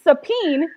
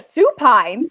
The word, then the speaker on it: supine: i need to go put my instant sapin instead of supine you are just like